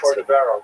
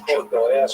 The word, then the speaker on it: Cordovero: Rabbi Moshe Cordovero, known by the acronym Rama, was a brilliant teacher. He was Portuguese. His name is actually Cordovero, but people pronounce it Cordovero by mistake.